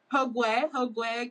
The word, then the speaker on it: Hogwe: Now, first of all, pronunciation is Hogwe? Hogwe. Hogwe. Mm-hmm. Got it, Hogwe.